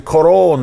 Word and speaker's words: Cuarón: Alfonso Cuarón. That is the Cuarón. That is the proper pronunciation.